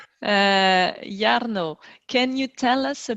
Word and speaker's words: Jarno: excited to welcome jarno did i pronounce it right yarno yes yarno yarno can you tell us